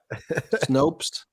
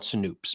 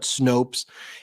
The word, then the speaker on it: Snopes: Is it pronounced Snopes, Brett? Is that how they call themselves? Yeah. Snopes. Sometimes I call it Snoops, but I call it Snopes.